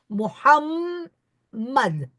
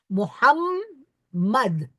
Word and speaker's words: Muhammad: was talking is that wherever there are double consonants in the Arab language we must pronounce both so for instance take the prophet's name the holy prophet's name is muhamad two M I think you'll have heard me say muhamad Muhammad two m in the same way in